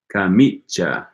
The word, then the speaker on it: camicia: Okay, Jorge says in some parts of Italy they pronounce the ch sound more like a sh, but camicia should be camicia.